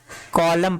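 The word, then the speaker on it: column: आगे इसको क्या करेंगे कॉमन नहीं इसको कॉलम पड़ते हैं क्या कॉलम कॉलम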